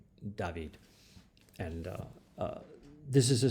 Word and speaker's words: David: painter jacques louis david spelled just like david but in french it's david and uh this is